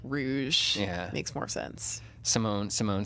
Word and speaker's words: Rouge: it's spelled Rouge really I always pronounced it Rogue as a kid but it's spelled Rouge okay all right there